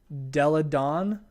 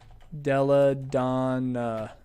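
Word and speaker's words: Delle Donne: Her name is really interesting. It's kind of hard to pronounce because it's got a bunch of extra L's and N's. Della Dawn, actually. Come on. Elena Della Dawn is, I think, how you say that.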